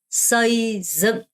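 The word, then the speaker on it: xây dựng: 서이증. 여러분 이거 발음할 때 지읒으로 하지 마시고요. 증, 증입니다. 서이증, 서이증입니다.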